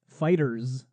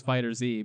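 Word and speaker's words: FighterZ: all right anyway next Dragon Ball fighters which is actually the correct pronunciation of the game yeah I wish it was fighter Z yeah it sounds much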